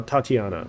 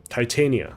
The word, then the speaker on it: Titania: a woman or uh Tatiana is a woman I guess guess or titiana Tatiana I don't know uh Titania that's what they call her Titania I was thinking about the Russian pronunciation uh okay last one